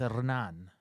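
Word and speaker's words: Hernán: or Hernan hernand hernand if you go to South America the H is silent so it's Anan I can't roll the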